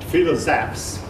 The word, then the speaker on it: philosophes: Now, this word might look like it's misspelled, but actually it's a French word, and it is properly spelled. It's pronounced philosophes.